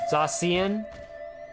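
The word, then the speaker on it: Zacian: you guys pronounce it i pronounce it zashian some people call them zashian zasian it's just pokemon never really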